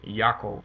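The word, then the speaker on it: יעקב: him Jacob and and but they pronounce it in Hebrew Yakov I think is I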